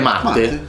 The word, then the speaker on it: Matte: non ha un accento. No, Matte. Quindi è Matte. Matte. Come Matte Bise.